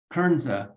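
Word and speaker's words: Kernza: and one of those crops for example is kernzo which is a perennial variety of wheat how do you say it again kernsa k-e-r-n-z-a so wheat is an annual grass but kernsa is a perennial grass so you you plant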